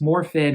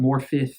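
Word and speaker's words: Morfydd: is a welsh actress it's morphin but morphith if you pronounce it in welsh um first of all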